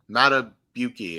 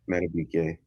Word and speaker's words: Madubuike: You got Justin Madubuike, I believe it's pronounced, right? Madubuike.